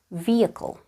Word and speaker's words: vehicle: D one hour ago another word where the letter H is silent is vehicle in my vehicle a